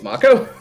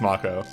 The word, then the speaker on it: Mako: pronounced Mako energy correctly wait it's Marco it's according to the Remake it's Mako so of a [